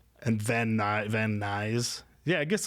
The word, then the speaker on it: Van Nuys: are like, and Van Nuys. Yeah, I guess like kind of like guys. It's spelled like guys.